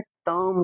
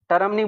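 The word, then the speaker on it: term: टर्म बुलाते हैं। टर्म, टर्म नहीं बुलाना, इसे आर साइलेंट होता है, टर्म।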